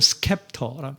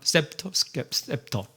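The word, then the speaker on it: scepter: 영어는 스캡터, 셉터. 그러니까 이게 셉터가 맞죠? 그 태영점의 발음이 뭐가 맞아요? 셉터가 맞죠? 네.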